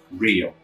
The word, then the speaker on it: real: Em inglês, não. Aqui, real, é no começo da palavra.